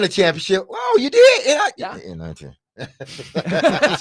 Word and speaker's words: NIT: NIT. That's how you say it. Yeah. Oh, I won a championship. Oh, you did? NIT.